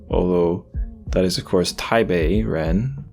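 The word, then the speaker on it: 台北人: people by pong although that is of course taibe Ren not Tai but taibe in Chinese and the correct pronunciation of um P pen yong's name should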